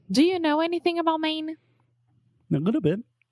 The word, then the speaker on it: Maine: it yeah I mean it's the same way that we say main right just like Main Street or the main point